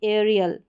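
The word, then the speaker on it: aerial: फिर आगे देखें, यहाँ पर ए ई के बाद में आर है तो यहाँ पर ए ई का उच्चारण ए करके होगा, जैसे कि एरियल।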